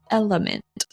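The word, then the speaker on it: LMNT: this week is called element an electrolyte drink supplement is that the correct way to say it yep and it's not spelled out element it's l m n t I'll pop up a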